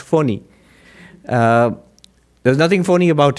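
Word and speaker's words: Fani: india for pony it's most people pronounce it funny but supposed to be pronounced phony uh there's nothing phony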